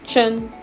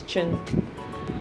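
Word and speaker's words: can: Sorry, chan. C is pronounced as chan.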